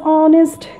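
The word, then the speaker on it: honest: আবার এখানে খেয়াল করো যে টুম্পা ওয়াজ অনেস্ট girl, অনেস্ট, অনেস্ট, অনেস্ট, এখানে অনেস্ট, এখানে এইচের উচ্চারণ উজ্জ আছে বা সাইলেন্ট আছে।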